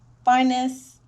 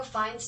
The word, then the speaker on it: Fiennes: video request reading on hero finest hold on hold on let me get the correct pronunciation hero finds Tiffin okay hero finds Tiffin there we go hero finds tiffen and Josephine ler I